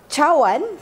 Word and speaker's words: cawan: So when you see c in Malay, you pronounce it as ch. So cawan, cup, is spelled cawan.